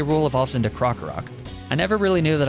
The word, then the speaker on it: Krokorok: Rool evolves into Krokorok. I never really knew that I was mispronouncing that until somebody commented on it in a video.